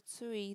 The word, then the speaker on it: tūī: When tui is spoken and spelt correctly in Māori, both vowels are long and it is written with macrons as tui.